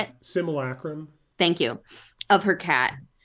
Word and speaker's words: simulacrum: she was really getting comfort from this like simacrolum. How do you say it? Simulacrum.